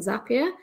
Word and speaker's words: Zapier: the page that says zapier makes you happier so it rhymes just thought i'd throw